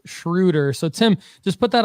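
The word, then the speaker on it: Dennis Schröder: And Tim Larson says it's pronounced Schroeder.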